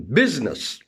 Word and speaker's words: business: For example, in business, I is silent.